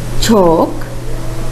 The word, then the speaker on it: chalk: Again, talk, chalk, walk, fork. In these words, the letter L is silent.